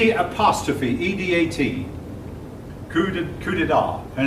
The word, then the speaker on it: coup d'état: short now it's again it is not spelled the way it sounds the P is silent yeah I hope that's